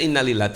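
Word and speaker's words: إنا لله: itu intonasinya ya innalillah padahal baca innalillah itu nggak begitu baca innalillah itu innalillah semua punya Allah wa inna ilaihi rajiun Semua akan kembali kepada kepada Allah harusnya begitu pengucapannya innalillahi innalillah wa inna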